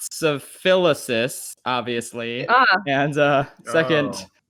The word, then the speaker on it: Schaffrillas: Scarfarelius. What is it that Yeah. you do? For those who It's don't well- know. First of all, it's pronounced Schaffrilas, obviously.